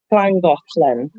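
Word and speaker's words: Llangollen: You say Clan Golan. It's spelled Langolan. Yes. But it's pronounced Langlin.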